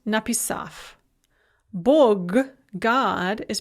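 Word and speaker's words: написав: bread is pronounced clip na pisav the gerund or verbal adverb having written is pronounced napissaf bug god is pronounced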